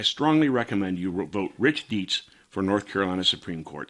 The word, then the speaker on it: Dietz: lucy inman against republican rich dietz and that's d-i-e-t-z but it's pronounced dietz dietz has a proven track record as an originalist pro-second amendment conservative i strongly recommend you vote rich deets for north carolina supreme court c3 meanwhile the